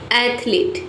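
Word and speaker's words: athlete: एथलीट में आपको ध्यान देना है कि यहां पे ई जो है नहीं रहेगा। ठीक है? केवल ए टी एच एल ए टी ई रहेगा। ठीक है? ए टी एच एल ए टी एच एथलीट। Only to syllables इसमें रहेगा।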